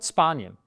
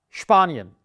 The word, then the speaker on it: Spanien: And the country of Spain in German is Spanien. It's not Spanien. Sounds very, very childish and weird. It's der Sport, das Spiel, und Spanien. The letter CH, or the